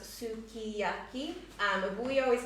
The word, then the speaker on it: sukiyaki: It is in Japanese phonetics pronounced sukiyaki, but we always call it sukiyaki because often the U and the SU gets dropped, the U sound gets dropped.